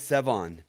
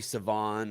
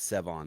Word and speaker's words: Sevan: except my mom okay my name is sevon okay that's all i was gonna say too make sure but a lot of people call me savon or sevi or but it but it's sevon like the number seven seven okay there